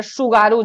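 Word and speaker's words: Tsugaru: के मध्य में है सुगारू जलसन टी साइलेंट है सुगारू जल संधि है और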